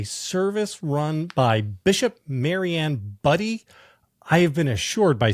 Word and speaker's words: Budde: run by Bishop Maryanne buddy I have been assured by Sam the pronunciation for this is actually buddy but if I'm doing